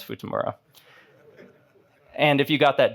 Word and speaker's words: Futamura: It's not Futurama, it's Futamura.